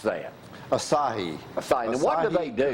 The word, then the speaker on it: Asahi: How do you pronounce that? Asahi. Asahi.